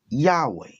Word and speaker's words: Yahweh: English transliteration is yhwh the translators in order to pronounce it add in a and an e and pronounce it Yahweh because the translators this